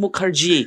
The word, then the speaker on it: Mukherjee: penjara yaitu adalah Lina Mukerji kata bacanya harus Mukerji artinya orang apa salah